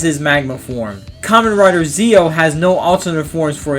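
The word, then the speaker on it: Zi-O: Common Rider Zo, that's Zi- O, not Zo like Power Ranger Zo.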